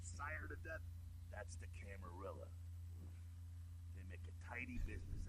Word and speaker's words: Camarilla: That's the Camarilla. They make a tidy business out of enforcing vampire laws like this one. Shouldn't that be pronounced Camarilla? Because I'm pretty sure it's Italian. Camarilla.